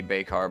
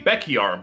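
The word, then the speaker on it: Bekyar: I've been saying it wrong this whole time. Oops, it's actually... Baker? Oh, no, they said it wrong. Ooh. It's the Beckyar block, but they...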